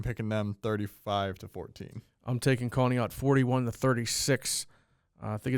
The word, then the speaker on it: Conneaut: I just learned that that's pronounced Conneaut. I'm picking them 35-14. I'm taking Conneaut 41-36.